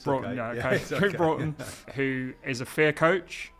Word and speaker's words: Broughton: pronouncing your second name wrong so did I pronounce it right there Bron it's Bron who is a fear coach um he also